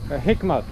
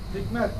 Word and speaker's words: Hikmet: Hikmat. Hikmet.